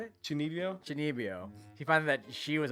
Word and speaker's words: Chunibyo: Chunibyo.